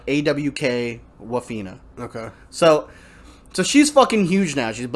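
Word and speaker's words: Awkwafina: her name is but it's spelled like awkward like awk waffena okay so so she's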